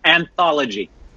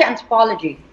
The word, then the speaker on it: anthology: Anthology. Anthology, anthropology, is it?